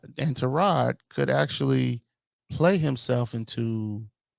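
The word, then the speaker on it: Tyrod: Giants started trod Taylor it's pronounced trod and I don't think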